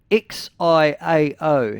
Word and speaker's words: Xiao: Now it's spelled X I AO.